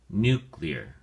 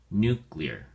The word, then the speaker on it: nuclear: at your flash card nuclear has two syllables and the emphasis or stresses on the first syllable new so we say nuclear nuclear it is used as